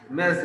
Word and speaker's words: Ms: एम एस, यस, मेज, it's pronounced as मेज।